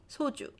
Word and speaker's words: 소주: for you to distinguish, because sometimes, even if it's su, Korean people even say su when it's the first thing in the syllable. There's more air coming out when I'm just opening my mouth. That's why it might sound similar. So then don't bother too much. Okay? 소주. It should be 소주.